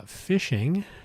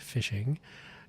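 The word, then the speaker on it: phishing: Uh, fishing, usually spelled with a ph, fishing.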